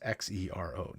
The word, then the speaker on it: Xero: But if you're just listening, I want to point out Xero is spelled with an X. It's Xero, not a Z as in zebra, but an X as in X-ray, Xero.